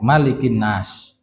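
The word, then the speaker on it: مَلِكِ النَّاسِ: Kalau Al-Fatihah boleh dibaca panjang Maliki Yaumiddin atau boleh Maliki Yaumiddin pendek, tapi kalau Anas cuman satu riwayat yaitu dibaca pendek. Maksudnya banyak riwayat tapi cuman satu bacaan. Bacanya itu pendek, Malikin Nas.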